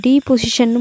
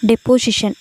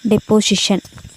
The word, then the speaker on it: deposition: ஸோ இது வந்து டீபொசிஷன்னு முன்னாடி நான் ப்ரொனவுன்ஸ் பண்ணியிருப்பேன், that is wrong, it's my mistake only. டெப்போசிஷன் எப்படி படிக்கணும், டெப்போசிஷன். Deposition along the sides of